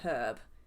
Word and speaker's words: herb: We're like the only dialect, basically, that pronounces the H in herb.